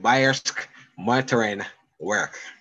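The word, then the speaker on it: Bayerische Motoren Werke: I tried all week trying getting this pronunciation correct. So it is indeed Bayersk Motorin Werk.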